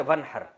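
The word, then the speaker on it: وانحر: हैं अरबी में नहर तो वन असल में था व इन हर पढ़ा जाता है मिला के वन हर तो अलिफ साइलेंट हो जाता है वन हर फसली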